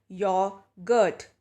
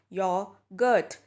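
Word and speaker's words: yoghurt: this how do you pronounce this word well pronunciation for this is your Gert note the silent are here your Gert is what you pronounce this like an example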